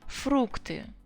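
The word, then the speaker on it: фрукты: actually it's fruit yeah so foreign word fructi you keep the stress where it was even if it's one syllable here but it's actually very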